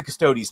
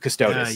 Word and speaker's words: Custodes: goddamn names uh custodes I know how to say custodes now instead of custodis you said quite a